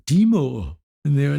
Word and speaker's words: Dimow: funniest thing was that they pronounced by name perfectly they were like Deo and they were like